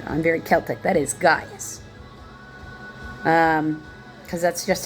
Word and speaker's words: Gaius: That is Gaius. Because that's just how that is pronounced.